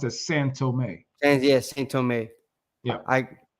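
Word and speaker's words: São Tomé: It's actually pronounced as San Tome.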